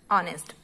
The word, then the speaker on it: honest: Honest. So why we should use N before honest? Because there is H and H is not a vowel, because H is silent. There is no sound of H.